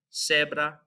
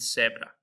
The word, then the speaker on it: cebra: It's going to be pronounced like an S. So we have zapato, cebra, zapato, and cebra.